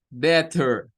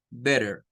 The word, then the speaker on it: better: Primero con la T, better. Después con la D, better. Y después con la, como que fuera una R suave, better. Digámoslo con el B. Escuchemos las tres con diferente pronunciación. Be better. Be better. Be better. Better. Yo les diría a ustedes, miren, si quieren sonar más como un nativo, díganlo como esta. Díganlo como la R. Be better.